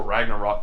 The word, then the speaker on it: Ragnarok: see this movie before Ragnarok took over ready to rock oh yeah that's how you pronounce that Ragnarok you